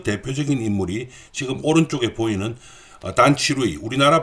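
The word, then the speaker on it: 段祺瑞: 수밖에 없었고, 그 대표적인 인물이 지금 오른쪽에 보이는 단치루이, 우리나라 발음으로는 단기서라는 사람입니다.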